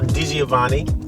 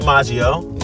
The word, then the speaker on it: DiGiovanni: Dioani. Yep. Got it right. Not Deaggio.